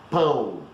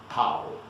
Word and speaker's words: pão: But please, pretty please, with sugar on top, folks, don't go to a bakery and say that you want to buy pau, because you know what it means.